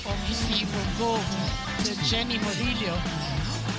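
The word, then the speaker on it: Ynny: you will go to Jenny Moro actually her name is spelled y n n y right that's right but pronounce this J J that was an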